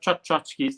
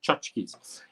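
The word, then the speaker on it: Tchotchke's: Not Tchotchkes, that's not how you pronounce it, it's just Tchotchkes.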